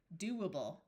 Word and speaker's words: doable: This O has the third sound of O, which is oo. So do, doable.